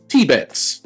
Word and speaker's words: Tibbets: They pronounced it Tibets. So, they stressed the first syllable.